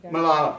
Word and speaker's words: Malala: this person was until Carolyn my wife suggested Malala yui anyone okay if you if you know who she is okay and and can you have better pronunciation for her name Malala Mala that's good Malala okay Pakistani teenager who stood up to the